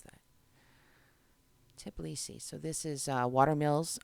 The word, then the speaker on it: Tbilisi: I always mispronounce that. Tbilisi.